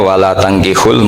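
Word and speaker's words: ولا تنكحوا: Jadi ya, saya ulang lagi ya, mestinya bacanya wala tangkihul musyrikati hatta yu'min bi fathit ta.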